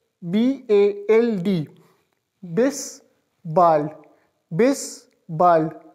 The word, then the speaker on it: bald: I s be a LD this ball miss bald bald means soon and for see you miss words